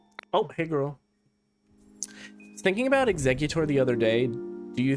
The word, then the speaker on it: Exeggutor: I've always pronounced it like that, but that's not correct. It's not Exeutor. It's two G's. It's Exeggutor, but I feel like in the anime they pronounce it Exeggutor.